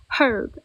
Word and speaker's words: herb: Ah the h is silent.